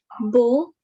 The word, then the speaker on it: beau: Okay, and finally, there are these group of letters AU or EAU. We simply pronounce it as O with rounded lips. O. O. Okay. So pronounce the first word. Bo.